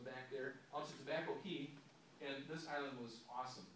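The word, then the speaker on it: caye: Tobacco Key, that's spelled C-A-Y-E. If you ever see it, I always was saying K, and they said, no, it's Key. That's how we say it's Key.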